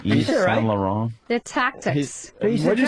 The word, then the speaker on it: Yves Saint Laurent: Yves Saint Laurent. They're tactics. What'd you say? Eva what? Who? What's the designer? Yves Saint Laurent.